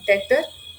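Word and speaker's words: debtor: is also called as डेटर B silent it इज not pronounced so इट is data okay so yes when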